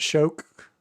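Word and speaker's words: Shough: It was hard to tell Tom about shook. Yeah, it's it's sh h o u g h and they pronounce it shook shook.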